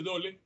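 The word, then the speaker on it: Döhle: hay cuerpos de Dol, se escribe Dole, se pronuncia Dol, en los glóbulos blancos.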